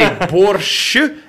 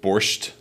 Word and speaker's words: borscht: Yeah, to different I say borscht, how do you but how do you say it with a T? Borscht. Borscht. Yeah. Yeah, I saw that on like the that. Menu. I would never say it like that.